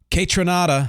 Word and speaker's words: Kaytranada: Kaytranada, I think it's pronounced that way, continues blending house, funk, R&B, and hip-hop.